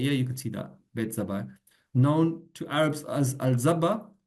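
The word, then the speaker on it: Bat-Zabbai: In Arabic, Bet Zabi, pronounced Beit Zabai.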